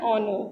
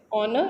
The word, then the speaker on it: honor: silent okay similarly an honor now this word honor is beginning with a consonant H but your H is silent so we have used